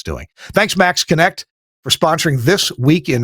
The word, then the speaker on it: MaxxKonnect: Check out just all the features at the Max Connect website at MAXXKONNECT, Max Connect. I know it's spelled funny, but there's a link in the show notes.